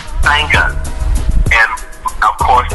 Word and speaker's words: Sangahz: So that's pronounced Sangas.